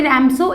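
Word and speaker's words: Ramsjö: नाम है ठीक है इसमें हालांकि देखो स्पेलिंग है आर ए एम के एस ओ बट IT should be pronounced स राम सो के वुड बी साइलेंट हर अब ये जो ओल्ड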